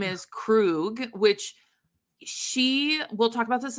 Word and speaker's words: Krug: little bit, but like she calls him, like tries to pronounce his name and ends up like kind of saying it like Craig.